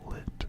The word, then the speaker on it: lit: Bed in French is lit, like it's lit.